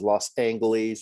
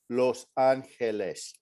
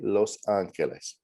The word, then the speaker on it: Los Angeles: it when people mangled the pronunciation they would pronounce this as los angeles or other sorts of things and whether he